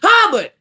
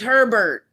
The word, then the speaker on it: Herbert: Hubbard, girl, his name is Herbert. His name is literally spelled Herbert. Why in the hell is you calling him Hubbard?